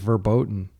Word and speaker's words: verboten: Somebody in the comments corrected me and said I was mispronouncing the German word, and I looked it up and it's I think it's verboten. Uh which means forbidden.